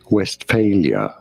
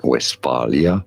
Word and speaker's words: Westphalia: oh good we are looking at how to pronounce the name of this region of Germany in English this is normally said as West failure West failure not West Valia but West failure if you're wondering how this